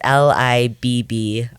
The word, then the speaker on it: Libbrecht: It's Libbrecht. Okay, so the T's silent. The T is silent.